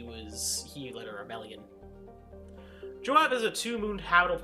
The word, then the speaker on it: Joab: Actually, is it Job or Joab? Sorry. Joab. Oh, sorry. It's Joab.